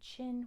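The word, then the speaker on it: Qin: good not okay so you can say chin but it's really chin say chin without pushing your lips out Chin Chin there you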